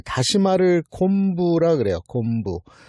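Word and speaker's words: 昆: 곤지왕. 곤지라는 인물은 이 뜻풀이부터 하면 곤과 지로 돼 있어요. 곤은 해 옆에 비교하다 비자를 써서 이제 곤이라고 읽습니다. 그래 해를 위에다 놓고 밑에다가 비교하다 비를 써서 곤 이렇게 읽는데 이게 음식 이름에 바다에서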